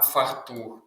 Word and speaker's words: фартух: Запам'ятайте, не фартух, а фартух. Наголос на другий склад. Це дуже важливе слово.